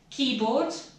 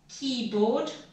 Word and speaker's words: keyboard: So firstly, we've got keyboard. Keyboard. The emphasis is on key.